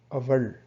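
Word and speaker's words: அவள்: For she, we say aval. So it's the same sound that as before, like an but val is like an vulture, like that pronunciation is val. So aval is the way we say it.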